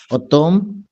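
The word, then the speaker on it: automne: ইএম থাকলে ফ্রেঞ্চে ওইটা উচ্চারণ হবে না, এটা অ সাউন্ড হয়ে যায়। ফা তম লেতে ফাইন, অতম, অতম। এটা এমটা খুব সাইলেন্ট।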